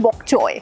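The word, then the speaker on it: bok choy: या तो वो BOK होता है या वो POK होता है, CHOY, बॉक चोय। इट्स एक्चुअली कॉल्ड बॉक चोय।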